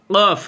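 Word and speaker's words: ق: কফ জবর ক, বলের মতো আওয়াজ হবে। কফ, বল যেরকম একটি নিক্ষেপ করলে একটা আওয়াজ হয়, ওইভাবে আওয়াজ হবে। কফ জবর ক, কফ জবর ক।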